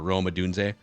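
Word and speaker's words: Rome Odunze: they take Roma is it how do you pronounce the Washington receiver Roma dun yep do and so now the Vikings are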